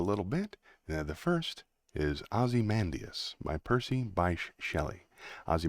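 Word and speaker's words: Ozymandias: me up a little bit the first is azy mandus by Percy bash Shelly azy mandus is spelled Oz y m a n d i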